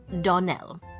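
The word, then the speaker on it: Donnell: would set it right Donell Accent on last syllable and St Clair on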